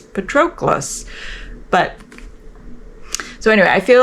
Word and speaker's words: Patroclus: really it sounds I don't I keep She's pronouncing it Patroclus. They read it in class and I'm like it's Patroclus.